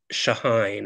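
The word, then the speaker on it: Chahine: was there um Yosef shahine it's pronounced with an sh I found out Joseph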